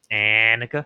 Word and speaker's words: Anika: Maybe I'm Anika. pronouncing Yeah, it wrong. it's with an eh. Anika. Yes.